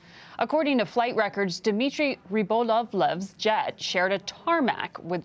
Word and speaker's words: Rybolovlev: Who is Dmitry Rybolovlev? Am I saying it right? Yeah, Rybolovlev.